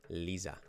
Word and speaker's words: Lisa: Short I, Lisa.